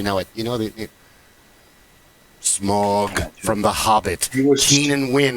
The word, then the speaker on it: Smaug: You know the Smaug from The Hobbit. Keenan Wynn. No. How is it pronounced?